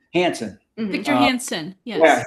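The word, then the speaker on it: Hanson: And then I have from Prager University, David, how do you pronounce his name? Hansen.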